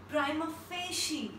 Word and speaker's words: prima facie: The next word is seventh word is PRIMAFACIE. And we pronounce it like prima facie.